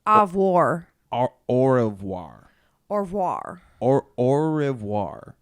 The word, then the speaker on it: au revoir: show we've been saying wrong the haier time Oh wah Oh wah it's pronounced of war au revoir or war or or revoir au revoir so